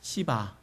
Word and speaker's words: 시바: 발음을 조심해야 돼요. 따라해 볼까요? 시바. 좀 액센트를 강하게 하면 안 돼요.